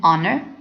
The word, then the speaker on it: honor: n is used of the H is silent not pronounced an hour and honor the article is used